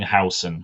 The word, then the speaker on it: Huijsen: brought in is Dean Hudson. It's spelt Huijsen, but it's pronounced Hudson apparently.